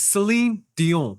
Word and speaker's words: Celine Dion: It's Celine Dion.